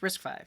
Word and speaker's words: RISC-V: Pronounced RISC-V.